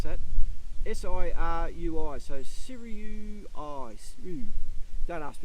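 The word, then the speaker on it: Sirui: this up it's actually a a seru don't pronounce that s i r UI so siru I don't ask do that again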